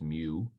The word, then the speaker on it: mu: letter mu it looks like a fancy U pronounce mu we learned a lot of Greek in here